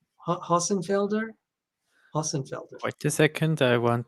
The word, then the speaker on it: Hossenfelder: How do you pronounce, since you can speak German fluently, how would you pronounce that name? Hossenfelder? Hossenfelder.